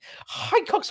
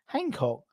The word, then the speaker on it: Hancko: It's David Hancko. No, Hancock's half hour. No, I think that's how you pronounce it. It's Slovakian. David Hancko.